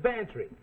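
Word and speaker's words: Bantreagh: Well, his is Bantry. Go on, spell it. Bantry, it sounds like pantry. I ain't no gambler, Mac. Well, get this for free. It sounds like pantry, but it's spelled B-A-N-T-R-E-A-G-H.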